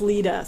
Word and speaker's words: Lita: Oh, and it's Lita, so that's how you say her name.